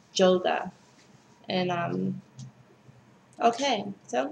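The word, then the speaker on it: Jóga: some people call this song yoga like the exercise but it's not it's yoga and um okay so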